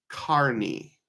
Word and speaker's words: Kearney: John says the town in Nebraska is pronounced Kearney.